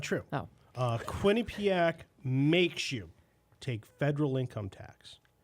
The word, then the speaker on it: Quinnipiac: i went to the quinnipiac university of law is that how you pronounce it i think yeah not the queenie payack or quinnipiac right um they do a